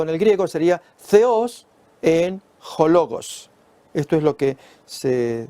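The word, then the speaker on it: θεὸς ἦν ὁ λόγος: Pronunciado en el griego sería theos en hologos.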